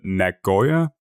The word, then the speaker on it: Nagoya: and some of those documents talked about the Nagoya protocol is that correctly pronounced yes it is yeah yeah yeah yeah